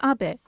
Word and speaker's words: Abe: House my name is Abbot but in the United States some people mistakenly pronounce my name is ape but that is not